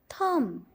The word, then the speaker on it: thumb: We don't pronounce the letter B because it is silent letter.